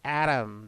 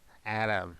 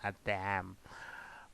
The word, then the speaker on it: ADaM: the CIS standard you you say it as Adam not atam uh another term that